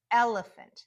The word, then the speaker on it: elephant: Elephant. There's a 3-syllable word. Elephant. L, you hear that short E, L. Elephant. Those last 2 syllables are just schwa.